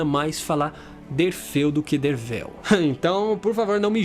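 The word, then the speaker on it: Derfel: Derfil, que na verdade se pronuncia Dervel, com V, né, está aqui escrito. Porém, eu acho que Derfil faz mais jus ao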